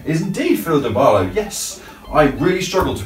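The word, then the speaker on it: Phyllida Barlow: Philida Barlow. Is indeed Philida Barlow, yes. I really struggle to pronounce her name, but I'm glad you got it right.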